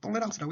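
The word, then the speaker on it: tolérance: 그래서 이 프랑스에는 톨러런스를 톨레랑스라고 읽죠.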